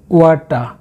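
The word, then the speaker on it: water: Number এইটে রয়েছে একটি শাক কলমি শাক, এটা যেহেতু পানিতে হয় তাহলে হবে ওয়াটা অ্যামারান্থ, ওয়াটা, এই আরে উচ্চারণ হয় না তাই আমি লিখে নিই ওয়াটা অ্যামারান্থ, অ্যামারান্থ।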